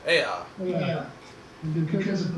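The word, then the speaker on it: Eä: It was because of their love of, how do you pronounce it? Ea. Ea.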